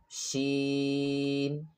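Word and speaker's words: ش: Then sheen. Sheen is pronounced from the middle of the tongue touching the roof of the mouth.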